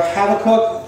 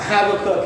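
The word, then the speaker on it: Habakkuk: in the book of habac or habac cook as I've learned to pronounce it I there's a right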